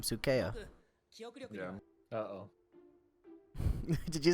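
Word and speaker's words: Sukea: I mean, I think Kakashi's guy is equally as freaky, but Sukeya. That's how you say his name. Sukeya.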